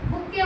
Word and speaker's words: bouquet: यहाँ पे T silent होता है। प्रोनाउंसिएशन बेस्ड में यहाँ पे बुक्के बोलते हैं। क्या बोलते हैं? बुक्के। मतलब टा को प्रोनाउंसिएट नहीं किया जाता है, तो कहते नहीं है बुक्के लाए।